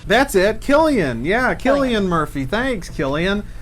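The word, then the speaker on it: Cillian: name he'll pronounce it for you and it's pronounced Killian that's it Killian yeah Killian Murphy thanks Killian his performance as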